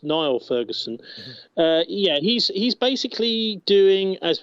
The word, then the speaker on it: Niall Ferguson: Yeah, he's pronounced Niall Ferguson.